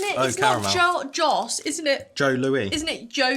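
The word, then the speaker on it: Joe Louis: two layers to it Joe Louie is it's like a um like Aon pie or pie it's pronounced Joe Lou it's pronounced Jo so the S is like silent ah the S it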